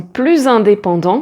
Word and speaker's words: plus: Ensuite, on peut dire je travaille de plus en plus et là le premier plus est prononcé comme un Z puisqu'il est prononcé ensemble avec le et plus on est de fou, plus on rit.